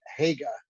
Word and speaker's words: Hager: But the testimony began this morning with Nicky Hager, that's how he pronounces it.